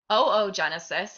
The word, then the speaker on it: oogenesis: Oogenesis, and it is pronounced oogenesis, not oogenesis, is the process of making eggs.